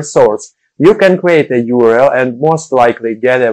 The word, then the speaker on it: URL: Whatever you do, don't pronounce URL as Errol, because that's my name. It's pronounced URL.